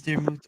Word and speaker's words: Daramouthe: My name is Daramouthe, or Dara for short, because obviously people still have issues saying Daramouthe and say Daramouthe, which is weird in the English language when there's a silent E at the end.